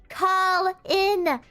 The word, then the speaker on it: Colin: Do you say colon on purpose sometimes? No, bro. That's just how I say Colin when I'm saying it fast. You need to learn how to pronounce Colin, bro.